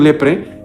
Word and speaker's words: leprae: micobacterium leprae. Bueno, no se dice a en griego, el micobacterium lepre eh cuando infecta a un em a un enfermito de lepra le desconecta los nervios.